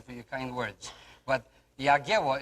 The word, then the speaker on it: Jagiełło: But Jagiełło is the way you pronounce it in Polish, and Jagiełło in the English language.